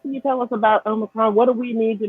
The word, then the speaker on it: omicron: talking about now the omicron some people pronounce it omicron um i looked it up both of those are actually okay pronunciations but um but like